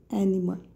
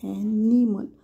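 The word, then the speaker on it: animal: ॲनिमल आपण ॲनिमल म्हणतो लक्षात घ्या एनिमल एनआयचा पण नी होतं ॲनिमल पण प्रत्यक्षात उच्चार मध्ये ॲनिमलच येतं ॲनिमल एनिमल ॲनिमल पण आपण म्हणतो ना ॲनिमल म्हणतो ए एन आय एन इ आणि मल असं म्हणतो पण ऍक्च्युली राईट आहे ॲनिमल लक्षात घ्या ॲनिमल एन ए आय एन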